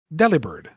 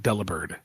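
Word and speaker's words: Delibird: And I have always called it deli bird. I've always heard it called dela bird. Mhm. Because it's a bird that delivers. Deli bird. Somebody says, "Should it be pronounced deliber?" Because it's a bird that delivers. And it's like, wait, is that the joke?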